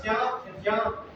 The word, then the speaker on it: ज्ञान: अब ज्ञान शब्द ही हम बोल रहे हैं, जबकि इसका सही उच्चारण ज्ञान जा और या की ध्वनि मिल करके, और बोलेंगे तो बहुत सारे लोगों को भ्रम हो जाएगा।